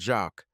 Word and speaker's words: Jacques: His name is Jack, but at home he is called Jacques. You know how the French pronounce it.